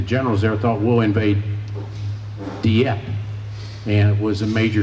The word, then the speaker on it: Dieppe: Most mispronounced word in the dictionary, just about. Dieppe.